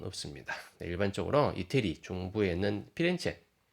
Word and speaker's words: 피렌체: 일반적으로 이태리 중부에 있는 피렌체, 영어 발음은 플로렌스고요. 그 현지 발음은 이태리 발음은 피렌체죠.